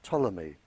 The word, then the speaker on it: Ptolemy: by the name of Ptolemy spelled with a P he very famous scientist